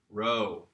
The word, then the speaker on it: rho: This is the letter Rho. Okay, Rho is the R sound in Greek, and that can be really confusing sometimes for people because they think, oh, it looks like a P.